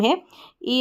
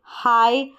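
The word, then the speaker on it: high: हाई, आई दे रखा है यहाँ पर और आई जी एच को भी ऐसे याद रख सकते हैं। यहाँ पर जी एच साइलेंट है, आई का उच्चारण आई।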